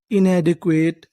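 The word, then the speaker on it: inadequate: अगर आपको इंग्लिश की किसी भी मीनिंग में आखिरी में इ लिखा मिले तो हम लोग इ का उच्चारण नहीं करते।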